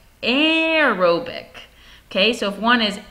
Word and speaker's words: aerobic: without using oxygen because that word aerobic a aerobic sounds like the word air or air for oxygen where that prefix and